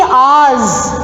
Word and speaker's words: hours: How many hours? We should not say hours. H is silent.